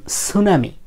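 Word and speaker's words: tsunami: সু এখন কথা হলো টি এর পরে এস থাকলে কিন্তু এই টি এর উচ্চারণ হয় না যেমন সুনামি সুনামির ক্ষেত্রে টি এর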